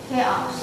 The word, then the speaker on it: chaos: It could be K-A-A-O-S, but it's not. Chaos. It's just the way it is. K sound. It has a K sound, but it's not spelled with a K.